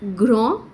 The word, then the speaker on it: grand: forms remember that like grah we do not pronounce the d grand we pronounce the